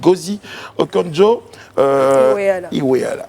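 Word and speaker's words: Ngozi Okonjo-Iweala: cette fois la nigériane on le disait gauzy okonjo iweala il faut prononcer comme ça bien voulu pour cette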